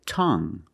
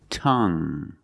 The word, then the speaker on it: tongue: we have this word tongue the u e at the end is silent so we pronounce it like young tongue you have only the nasal sound there's no G it's just a sound